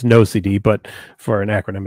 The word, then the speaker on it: NOCD: and ocd so um it's pronounced no cd a lot of people ask all the time so it is pronounced no cd but for an acronym